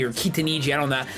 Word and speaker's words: Kitaniji: He's his proxy, because he was playing a game with Kitanji or Kitaniji, I don't know. I realized I've been pronouncing his name wrong for forever. I like saying Kitanji better, though. It just sounds better.